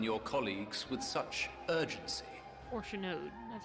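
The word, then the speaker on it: Fourchenault: Orchanode, that's how you say his name.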